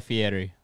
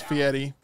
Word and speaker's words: Fieri: Guy Fieri. It's Fieri, but yes.